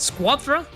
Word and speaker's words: Squadra: How do you pronounce that? Squadra.